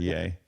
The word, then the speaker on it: Ye: new Happy New Year it's pronounced yay thank you very oh